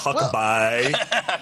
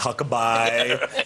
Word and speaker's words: Huckabee: an opinion on Healthcare well first all it's pronounced Huckaby it's not hucke it's Huckaby uh and second of all I mean we